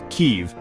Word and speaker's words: Kyiv: And for Ukraine, that city is Keev, spelled K Yiv, and pronounced Keev.